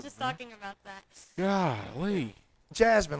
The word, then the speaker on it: Jazmine: Jasmine, like the princess from Aladdin. Yeah, there you go. Yeah. It's spelled differently, though. Well, that Yeah. Spelled with a Z. but when you spell it differently, does it sound different when you say it? No, but it just Okay, looks cool.